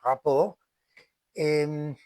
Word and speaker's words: rapport: El rapport, la T al final no suele pronunciarse en francés, rapport, eh, implica o significa la